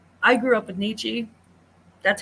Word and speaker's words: Nietzsche: people from America tell me, don't pronounce it Nietzsche, pronounce it Nesche.